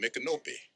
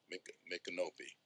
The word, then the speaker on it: Micanopy: There was a name on that treaty, Micanubby, or Micanubba, sometimes people say, because Micanubby, you call it Micanopy. And a lot of times in English, they say Micanopy.